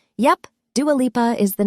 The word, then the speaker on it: Dua Lipa: plus community of Australia Dua Lipa isn't a stage name yep Dua Lipa is the name she was born with it's pronounced door leaper she says she didn't